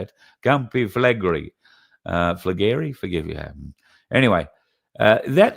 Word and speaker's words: Campi Flegrei: And then Campi Flegrei, I think is how you say it. Campi Flegrei.